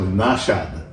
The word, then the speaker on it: Nashad: and made himself Nashad, Nashad, not Naushad, Okay. not Naushad, which means a different thing, Right.